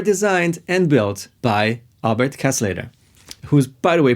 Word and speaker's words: Kasleder: and built by albert casselater who's by the way pronounced like costly that paul mccartney is